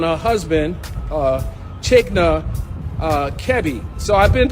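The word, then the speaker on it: Kiari: husband uh chichner uh kevi so i've been pronouncing that it's not kiwi it's kevi and when uh her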